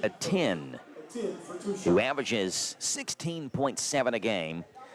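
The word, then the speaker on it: Ateny: There's a Y at the end, but it's pronounced a 10 and not a tinny.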